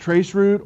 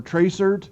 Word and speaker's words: tracert: It's pronounced trace route or tracert.